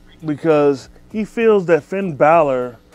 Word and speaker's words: Balor: i definitely think so balor oh what would i say i'm sorry you know you said baylor it's pronounced balor oh balor yeah i think balor is